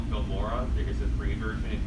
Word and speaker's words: Filmora: The editing software I use currently is called Filmora. There's a free version if you want to get that. It's just how it's spelled exactly how it sounds. Film and then Mora, O-R-A.